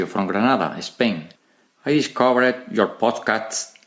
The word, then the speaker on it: Granada: Or, forgive me, but as I've heard some people say, Grana. Some people from Granada, not pronouncing the D. Soy de Granada. Have you heard people say that? I have. You didn't, Ignacio. You say Granada, but some people say Grana.